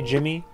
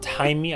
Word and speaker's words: Jaime: Damien Salomon, who played Jaime, as I learned, apparently you don't say Jimmy, it's Jaime. I learned that from Blue Beetle. I didn't know that was the pronunciation of that name in that language, but you're never too old to learn something.